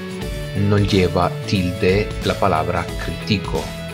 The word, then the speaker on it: critico: lleva tilde la palabra critico, porque se trata de una palabra que tiene la sílaba tónica de la penúltima sílaba y por tanto es llana.